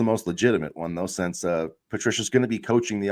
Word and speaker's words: Patricia: Matt Patricia, or Patricia, sorry, I guess I mispronounced that.